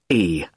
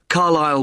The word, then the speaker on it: Carlisle: Sorry. It's Carlisle. You don't pronounce the S. Carlisle Way.